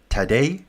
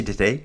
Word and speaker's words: Tadej: Tadej? Did I just say today? Today? Tadej? Yeah, he was on his wheel all the way.